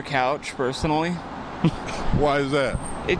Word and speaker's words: Couch: From what I hear, it's Cooch, but I would prefer Couch, personally.